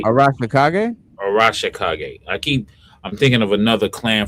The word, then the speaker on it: Arashikage: So yeah, I think the Hara, you know, I keep saying the name wrong. Harakashi, is that the right? Arashikage? Arashikage.